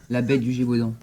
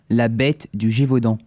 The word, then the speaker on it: La bête du Gévaudan: La bête du Gévaudan. What's that? La bête du Gévaudan.